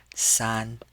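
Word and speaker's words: 三: Now, we pronounce this with the first tone, san, san.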